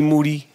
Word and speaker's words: Moody: Moody. Last name rhymes with duty.